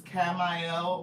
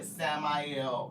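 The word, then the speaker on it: Camael: It's Camel or Samuel or Chamel, right? So, however you want to say it. Chadel is one of the more modern uh pronunciations of their name, but it could be kamiel like c a m ae l.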